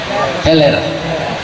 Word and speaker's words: huller: Ada orang menyebut, kalau tulisannya baca lihat huller. tapi bacanya apa itu? Heler.